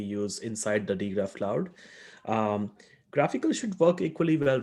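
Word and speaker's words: GraphiQL: i was wondering okay what manish said pronounced graphical the graphql client i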